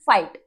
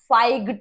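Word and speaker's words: fight: रहे हैं इसे, फाई, एफ आई फाई टी, फाइट, फाइग्ड नहीं बोलते, ठीक है, स्ट्रेक्ड नहीं बोलते, ठीक है, तो आप इसे क्या बोलेंगे, स्ट्रेट, तो जी एच इज साइलेंट हियर।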